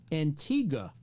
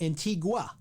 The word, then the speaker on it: Antigua: away trips right right Antigua he is he tends to call it Antigua the U is silent and so they have